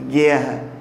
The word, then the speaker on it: guerra: Aí você viu o dígrafo RR, mas você viu também que o U não é pronunciado na palavra guerra. Eu não digo guerra, ou alguém diz para você, vamos para a guerra? Não, é guerra.